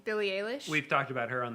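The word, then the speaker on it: Billie Eilish: music recommendation would be Billy how do you pronounce it hair Billy a leash Billy a leash we've talked about her on the show violent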